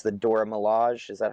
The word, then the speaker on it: Dora Milaje: I think it's the Dora Milaje. Is that how you pronounce it? Dora Milaje.